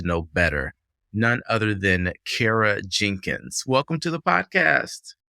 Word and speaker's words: Kara: I always remember how to say your name because I say Kara Cares.